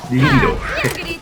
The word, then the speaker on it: libido: Libido. That's the first time I've ever heard Libido. it. I forget the proper pronunciation is libido.